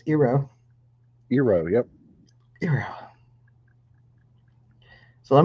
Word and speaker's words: gyros: We had, as some people mispronounce, gyros. The actual correct pronunciation is Eero.